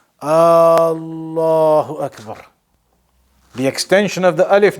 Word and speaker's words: Allahu Akbar: So the point is that you have to make sure that you are pronouncing it properly. Allahu Akbar.